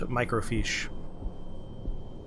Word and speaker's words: microfiche: the photographs out as microfiche. Microfiche. It's pronounced like you wrote it there, microfiche. The spelling, though, is right there. Micro, F-I-C-H-E, microfiche.